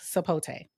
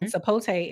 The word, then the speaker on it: sapote: It's called black sapote.